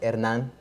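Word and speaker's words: Hernán: It's pronounced Hernan in Spanish.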